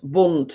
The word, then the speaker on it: Bundt: the writing but it's it's chocolate bunt and it's spelt bu n D T so when so yeah